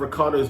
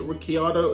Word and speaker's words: Ricciardo: Is it Ricciardo? Is it Ricardo? Why is there an I if we don't pronounce the I?